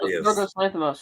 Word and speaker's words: Yorgos Lanthimos: Yorgos Lanthimos. Shut up, Scotty. What is that? Yorgos Lanthimos. Okay. No, not Lanthimos. Yorgos Lanthimos.